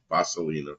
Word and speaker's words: vaselina: it's vaselina vaselina fun which is probably more B vaselina B I try to pronounce it like it's Spanish well V is has